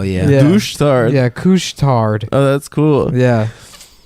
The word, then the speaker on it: Couche-Tard: They also have a place that's called Couche-Tard. That's the name of it. But couche is spelled like douche with a C. Oh hell yeah. Yeah. Douche tard. Yeah, Couche-Tard.